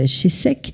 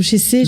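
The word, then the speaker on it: Chessex: Vous avez parlé de Jacques Chessec, pardon, ou Chessé, je sais pas comment. Alors le X ne se prononce pas en Suisse.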